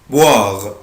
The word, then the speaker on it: boire: verbe boire، boire، boire يعني يشرب. عود نفسك الاو اي او الاو اي بالانجلش بنطقها وا، boire يعني يشرب.